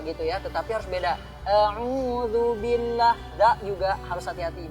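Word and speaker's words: أعوذ: A'udzu billah. Da juga harus hati-hati, bukan a'udzu, tapi a'udzu. Cara membaca da itu adalah cukup dengan lidah randi itu ditempelkan dengan gigi yang di depan. Da. Da. Nah, a'udzu.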